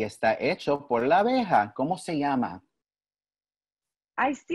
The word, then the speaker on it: abeja: Abeja. Abeja, muy bien.